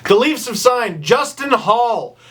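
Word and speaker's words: Holl: Leafs of sign Justin Hall h o l l but it's pronounced Hall he is a right-handed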